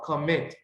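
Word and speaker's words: commit: entonces en este caso es una palabra de dos sílabas hice y tiene el estrés sobre la última sílaba comet Entonces tenemos que duplicar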